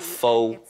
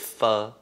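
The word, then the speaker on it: phở: Not pho, it's pho.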